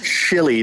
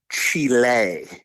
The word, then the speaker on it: Chile: It's Chile, not Chile.